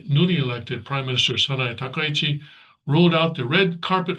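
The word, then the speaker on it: Takaichi: You know, just take it one Japanese syllable at a time. And Japanese is very easy language to pronounce. You know, it's not Chinese or it's not even Korean. Korean is much more difficult to pronounce than than Japanese. So it's ta kai very simple okay red carpet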